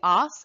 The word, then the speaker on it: as: off and disc Italy please watch your pronunciation on this word it is the off and in the plural